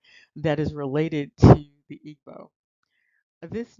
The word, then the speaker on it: Igbo: So when you look at the Hindi, you see it is Igbo. So it's not simply Igbo as it is pronounced in English. The G is prominent.